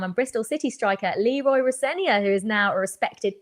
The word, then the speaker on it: Rosenior: And I go, R-O Senior. So then people started to say, "Oh, it's Rosenior," and I was over 40 years ago, by the way.